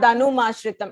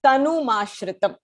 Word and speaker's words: तनुमाश्रितम्: It is not Danumashritam. It is Tanumashritam.